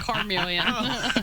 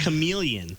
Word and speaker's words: chameleon: Is it a car-million? No, it's not a car-million. You can't drive it, Roy. No, it's just chameleon. Chameleon.